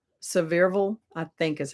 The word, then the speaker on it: Sevierville: Pigeon Forge, which is, I'll say it wrong, Sevierville, I think is how they say it. Sevierville.